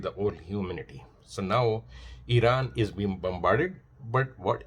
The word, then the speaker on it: Iran: started attacking Iran because they like to call it say Iran rather than real pronunciation which is Iran.